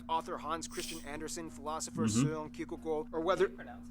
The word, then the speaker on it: Søren Kierkegaard: Hans Christian Andersen, philosopher Søren Kierkegaard, or whether... That's actually how you pronounce his name. Wow. It's not Soren Kierkegaard. It's or whether it be